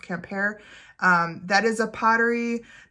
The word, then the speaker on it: Quimper: a camper um written q-u-i-m-p-e-r i think so it looks like quimper but it's pronounced camp hair um that is a